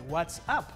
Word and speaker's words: WhatsApp: esta palabra anuncia whatsapp se pronuncia exactamente what's up esto es una referencia